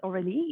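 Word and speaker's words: Aurélie: me my name is aureli if you're not sure how to pronounce it or to remember it say oh really uh usually I turn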